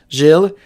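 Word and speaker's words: Gilles: a surname in French Jill um J no sorry g i l l s and it's pronounced Jill Jill Jill in French and so you could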